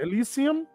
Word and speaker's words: Elysium: Elysium.